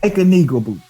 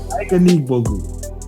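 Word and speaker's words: Ike Anigbogu: Ike Aniga Boo. There you go. Ike Aniga Boo.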